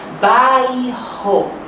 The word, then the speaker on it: Bairro: Bairro. Olha só a pronúncia e a ortografia.